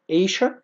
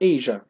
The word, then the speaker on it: Asia: ننتقل للنقطة اللي بعدها continents القارات Africa طبعا آسيا ليها نطقين Asia أو Asia الاثنين صح Asia أو Asia واحدة